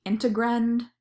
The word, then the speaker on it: integrand: this is called the integrand it's spelled int e what gr and E and I'm just spelling it because that helped me like understand the word is it's like dividend if that helps you